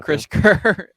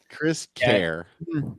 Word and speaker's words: Kris Kehr: you spell my name it sounds like Chris Kerr yeah it's been pronounced that way many times care yeah Chris care yep and uh you